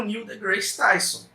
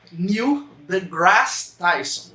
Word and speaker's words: Neil deGrasse Tyson: gente tem é o Neil deGrasse Tyson. É esse mesmo nome? É assim que fala? Errou! Neil deGrasse Tyson, é assim que pronuncia.